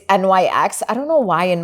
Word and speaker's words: NYX: Anyway, she recommended one by the makeup brand NYX, which I had no idea, by the way, that it's pronounced NYX. It's NYX.